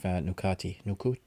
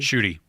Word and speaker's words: Ncuti: Shooty. Yeah, is well, first we had the female Yeah. Doctor Who, and now Jodie we have Whittaker. Yeah. yeah, now we have Nukati. Nukati? Shooty.